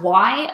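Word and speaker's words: OUAI: There is a brand of high-end hair care products, the name of which is the letter O-U-A-I, and every time I think it's pronounced Y, but every time I look at it, I think of the opening to TLC's Creep.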